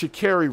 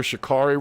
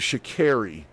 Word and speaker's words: Sha'Carri: So nonetheless, Sha'Carri Richardson, it's Sha'Carri Richardson, actually. I was calling her Sha'Carri Richardson for years because I didn't know how to pronounce the woman's name, but it's actually Sha'Carri Richardson.